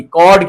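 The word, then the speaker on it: chord: कॉर्ड क्या होता है? ये सी एच ओ आर डी कॉर्ड। इसे कॉर्ड प्रोनाउंस करते हैं।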